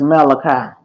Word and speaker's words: Malachi: That's Malachi. That's a book Yeah, in the Bible. Malachi. Theo. I don't know. Yeah, Malachi.